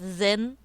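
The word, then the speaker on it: Zyn: Zen Z Y. You pronounce that Zen.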